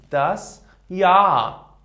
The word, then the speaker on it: Jahr: And the third point here, if before ha we have these letters a, o, u, I, e, a umlaut, o umlaut, and u umlaut. Ha is not pronounced.